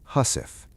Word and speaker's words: housewife: The housewife, pronounced husf, was a small sewing kit every sailor carried.